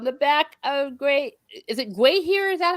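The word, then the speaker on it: Gwaihir: Gandalf then soared into Mordor on the back of Is it Gwahir? Is that how you say it? Gwahir. Yes, Gwahir.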